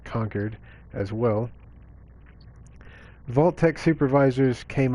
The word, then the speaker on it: Concord: several from conquered it looks like Concord but I think it's a local dialect they pronounce it conquered as well vault-tec supervisors